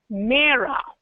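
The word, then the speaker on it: मेरा: these words so in Hindi my is the pronunciation for my is Mea mea and name is pretty similar to you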